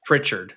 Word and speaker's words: Pritchard: Payton Pritchard.